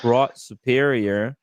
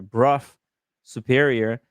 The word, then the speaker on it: Brough Superior: speak very highly uh oh sorry it's pronounced bruff Sorry. Bruff superior seems to have been a a big shot, you know, important motorcycle brand.